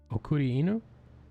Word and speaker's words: okuri inu: is a d sound r's are d sounds pretty much like if you talk